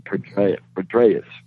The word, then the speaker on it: Petraeus: Petraeus, yes.